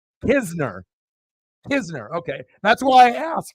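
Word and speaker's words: Knizner: K in uh you know you do you pronounce the k or is the K silent hizner okay that's why I asked because I I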